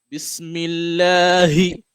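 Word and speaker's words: بِسْمِ اللهِ: So the correct pronunciation should be Bismillahi. Oh, you can see how my heart beat, right? How I pronounce the ha.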